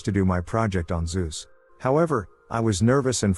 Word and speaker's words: Zeus: god i chose to do my project on zeus however i was nervous and for some reason referred to him as jesus jesus with a z the presentation was like